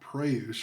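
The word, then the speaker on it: πραΰς: But this word that Jesus has used, meek, it goes back to a word called preuse, I believe, is how you pronounce it in Greek.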